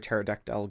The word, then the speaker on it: pterodactyl: Why can't you hear a pterodactyl going to the toilet? Why? Because the P is silent.